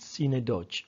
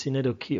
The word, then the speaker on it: synecdoche: We tend to pronounce it synecdoche. Okay, we check a dictionary, the transcription has the k and then the e. So it's synecdoche, all right?